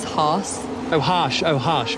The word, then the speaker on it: Haas: I pronounce it Haas. Haas.